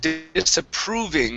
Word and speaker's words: disapproving: go to the word disapproving instead of disapprove okay that o is an oo sound disapproving disapproving okay one